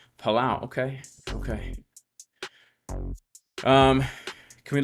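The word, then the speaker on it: Palau: the Earth creating Islands that's what's up it's pronounced palao palao palao okay okay um can we look at xrp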